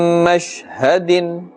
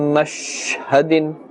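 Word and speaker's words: مَشْهَدٍ: Be careful that we don't stretch the sound of the sheen. Many people make this mistake and say min mashhadin, mash. That elongation or the stretching of the sound of the sheen must not be made.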